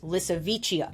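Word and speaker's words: Lisowicia: of a modern elephant walking the planet called licha which I kept pronouncing as in my head when I was researching but it's licha I like my pronunciation better but whatever it's pronounced that way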